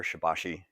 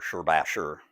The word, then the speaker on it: Shibashi: Nodded and gave nod at the beginning that there are kind of two pronunciations out there, Shibashi or Shibashi. I understand the second is apparently closer to the Chinese.